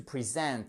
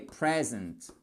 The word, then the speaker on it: present: Le verbe, c'est to present avec l'accent tonique. Ici et là, vous avez un i court. En revanche, un cadeau, ça se dit est present. Et pas est présente. Non, est present to present.